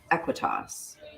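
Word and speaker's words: Aequitas: Veritas Equitas.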